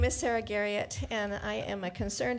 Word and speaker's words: Garriot: I appreciate the French pronunciation, but it's just Garriot is fine.